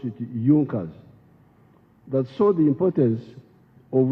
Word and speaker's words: Junkers: It is written Junkers, but they pronounced pronounce it Junas.